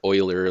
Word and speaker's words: Euler: and i should mention his name is pronounced like that oiler like oil you know and the euler